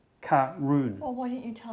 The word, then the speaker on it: Caorunn: okay though and the the tasting notes say that karoon is pronounced karoon well why didn't you